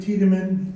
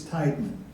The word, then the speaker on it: Tiedemann: I'm Nick Tiedemann. If you see my name, you'll think it's Tideman.